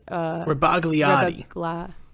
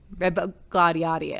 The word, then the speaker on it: Rebagliati: I'm not even going to try to pronounce his last name. It's Rebagliati. Rebagliati.